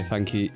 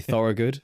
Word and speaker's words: Thorogood: Um I'm joined today by thanki. I've just you've got me pronouncing it wrong myself. Thorugood from Potted.